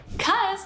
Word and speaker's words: 'cause: Cuz is the shortened form of because. We pronounce this as cuz.